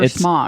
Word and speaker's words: Smaug: They just really wanted Smaug in this. Is it Smaug or Smaug? It is Smaug. Oh, yeah. Okay. I don't like pronouncing it that way, though.